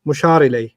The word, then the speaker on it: مشار إليه: Mushar ilay. Mushar ilay. Like mudaf ilay. Yeah. Rhymes with mudaf, mushar.